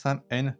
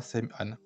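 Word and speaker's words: Saim-Hann: Sem an le traducteur SEM an se prononce Sam pas SEM an note de l'acquisiteur les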